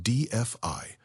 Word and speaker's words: DeFi: This is where you start exploring DeFi, pronounced DFI, which allows you to interact with the blockchain without a middleman.